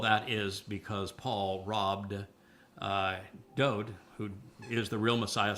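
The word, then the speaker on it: דוד: It means beloved, and his name is pronounced Dode.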